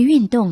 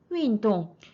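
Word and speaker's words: 运动: 运动 윈 사성이죠. 똥도 사성입니다.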